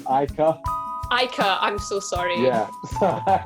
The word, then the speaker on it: Ica: hello hi yeah everyone kind of gets my name wrong a bit it's icar ike i'm so sorry yeah so good how